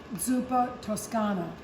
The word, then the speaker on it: Zuppa Toscana: fall very popular soup zupa Toscana is how they say it in Italy what makes it Tuscan